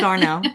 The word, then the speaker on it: Dardanelle: to Petit Jean, and it's actually called Dardanelle, Okay. Arkansas. But Hmm. we don't say that in Arkansas. We say Dardanelle, Yeah. Dardanelle, Dardanelle. And so you would think it was just two syllables, but actually Yes. it's not. But if you were to say Dardanelle, Yeah. everybody would know you're not Yes. local. It's Darnell, Darnell.